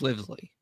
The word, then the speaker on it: Livesey: I think it's Livesey. Yeah, Livesey. That's right.